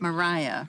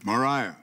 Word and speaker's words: Maria: Oakley okey-okey doing and she pronounced at Mariah no Mariah okay she's not a